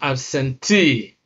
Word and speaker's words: absentee: So words that end in long E, three syllables or more, especially nouns with the long E sound, are stressed on the first syllable from the end of the word. That means the last syllable that contains the double E.